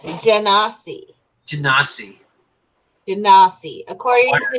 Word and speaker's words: Genasi: Oh, it's pronounced Genasi.